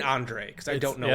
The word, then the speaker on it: Andrzej: Anything I need to know about pronouncing this guy's first name? I've just been saying I've been saying Andre cuz I don't know how to say.